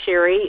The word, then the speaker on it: Shari: my am i I'm sherry and it is pronounced sherry and thorough is pronounced thorough as incomplete that